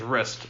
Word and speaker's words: wrist: yeah where it says wrist up on top you wrote rest without a w that's the only reason i know it was yours that's why she looks changed but the w is silent i'm so lucky i